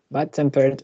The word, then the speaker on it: bad-tempered: Bad-tempered and old-fashioned are 2 compound adjectives stressed on the second syllable.